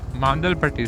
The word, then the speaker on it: Mandalpatti: So after the Mandalpatti, sorry, that's the correct way of pronouncing it in the local Kodvatak.